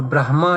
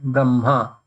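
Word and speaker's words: ब्रह्मा: In Brahma, Ha is written first, but Ma is pronounced first. So Brahma is not correct. Brahma.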